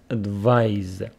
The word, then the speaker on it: advise: This is pronounced advise.